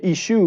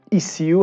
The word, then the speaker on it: issue: شنیده بودم های جاهایی ولی نمیدونستم واقعا این چیز رسمی و ثبت شده هست که ایشو میتونه تلفظ ایسیو هم داشته باشه که همون تو هم بریتیش و امریکن قابل قبول هست.